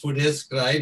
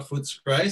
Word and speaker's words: Footscray: I think the pronunciation of Footscray is Footscray, not Footscray.